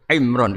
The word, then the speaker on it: Imran: Dari sana Bugis Imran, jadi orang sana nggak pakai ro. Kalau orang ro, jadi pakai ra. Kalau ainnya? Ain pakai ain. Berarti apa? Imron gitu. Ya kalau sana tulisan KTP Imran. Apa bacanya orang-orang Sulawesi? Apa? Imran.